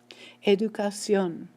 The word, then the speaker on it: educación: We said words that end in vowels should be stressed on the next to last syllable. However, the stress is not there. It's moved. I move it with an accent mark. That's what the accent mark does. Educación. It's not educación, but educación.